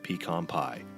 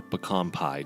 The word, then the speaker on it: pecan: peas, grits, strawberries, and pecan pie. Or pecan pie, depending on how you pronounce the word.